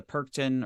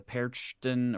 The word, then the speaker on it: Perchten: Um, but the Frau Perkta has the Perkten or the Perchten or the Perch. There's so many different pronunciations, but they are the ones.